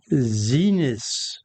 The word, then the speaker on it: Xinis: refusing compliance and D the hearing of Judge Zenis. That's how it's pronounced.